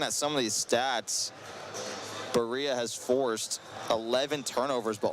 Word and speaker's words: Berea: It's actually pronounced Berea. I think I'd been saying Berea the entire time, so my apologies out there to all of our Berea fans listening.